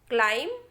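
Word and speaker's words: climb: तो ये हो जाएगा कॉम, दूसरा हो जाएगा बॉम, थम, क्लाइम, टॉम, क्रम और लैम्प। इस तरीके से होगा बच्चों, बी को हमें प्रोनाउंस नहीं करना है।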